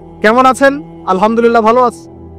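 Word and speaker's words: الحمد لله: আলহামদুলিল্লাহ ভালো আছে। তো আলহামদুলিল্লাহ না বলে সে বলেছে আলহামদুলিল্লাহ। তো যে হায়ের উচ্চারণ পরিবর্তন হয়ে গেছে, এই কারণে অর্থ পরিবর্তন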